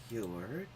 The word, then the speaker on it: 有: In Korean, this is pronounced u. And in Japanese, yu. Yo.